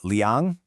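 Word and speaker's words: 两: In Mandarin, that's wǒ yǒu liǎng gè jiějie. Okay, let's break this down. We already know our tone-changed wǒ yǒu. Next is liǎng, which means two, and it's another third tone.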